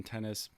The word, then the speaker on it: Tennis: time my name is tennis pronounced just like the game tennis and i own and